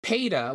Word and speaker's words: Peta: Json main character uh Peta which I've talked to Tucker and it's supposed to basically be pronounced the way that Lois Griffin says Peter so Peter can't use